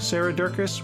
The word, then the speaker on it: Durkis: Julianne Rowland, Stu Dolnick, Sarah Durkis, rhymes with circus, Kelly Cameron, Wayne Pedersen,